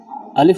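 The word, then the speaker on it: ألف: আলিফ বা আলিফ যখন বলবেন, আলিফটা আপনার দ্রুত বলবেন, তাড়াতাড়ি বলবেন, কেননা আলিফ লম্বা হয় না, আলিফ কাটো হয়।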